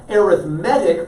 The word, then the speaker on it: arithmetic: the class right arithmetic the noun arithmetic puts the emphasis on a different syllable when used as an adjective so an arithmetic sequence